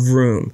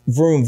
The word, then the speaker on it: Vroom: what's going on, you need to check out Vroom. How you say it again? Vroom, V-R-O-O-M.